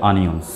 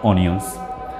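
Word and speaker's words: onions: আনিয়ন্স উচ্চারণ কেন হবে আমরা সাধারণত অভ্যস্ত ইউজ টু অনিয়ন বলে আসলে এর সঠিক উচ্চারণটা হচ্ছে আনিয়ন্স নট অনিয়ন্স তারপরের বাক্যটা হচ্ছে পেঁয়াজগুলো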